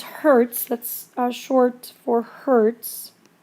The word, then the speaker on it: Hertz: H lowercase Z and that's pronounced as Hertz that's a short or